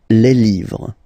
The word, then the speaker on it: livres: just write livre, and then you put S at the end, but then you don't pronounce it, les livres, le livre, les livres.